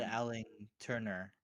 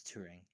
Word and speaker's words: Turing: Well, I got his name wrong first though. I said Alan Turner, you know, and then I realized it was Touring.